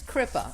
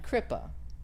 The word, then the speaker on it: kripa: find that paper and pen so what is crippa i was doing a meditation with deepak and